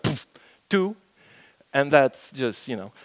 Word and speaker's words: PBKDF2: Easy to remember, you just pronounce it like poof, two, and that's just, you know.